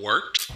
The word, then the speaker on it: Wort: This is The Wort on Govs Radio. It is the Wort. Not warts, not forts, not short.